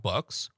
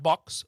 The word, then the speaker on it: bucks: Not box. Bucks.